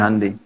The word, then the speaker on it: Hyundai: Honda ya Korea bikin hundai Hyundai bacanya hundai kemudian sana masuk Piala